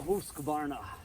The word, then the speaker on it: Husqvarna: those of you who are obsessed with appropriate pronunciations the grand false brooks this is the husqvarna let's let the convex have its day i